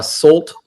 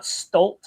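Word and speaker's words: Solt: It's uh Salt Productions. So S O L T Productions is So you telling me it's salt? It's not stol. Yeah, you've been saying it wrong the whole time.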